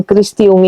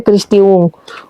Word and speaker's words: Christy Ng: Kalau kekuatan sudah ya, banyak yang sudah membicarakan Christiung ini Bun. Christy NG tulisannya ya. Tapi bacanya katanya Christiung. Ung itu nama dari marga kanton di Singapura.